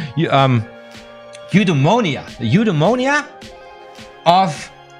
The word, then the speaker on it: eudaimonia: what is called your eudaimonia the eudaimonia of eudaimonia eudaimonia that's that's how we pronounce it I believe in English off of the art